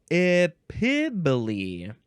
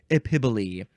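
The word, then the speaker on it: epiboly: Next is epibole. Epibole. This is spelled E-P-I-B-O-L-Y.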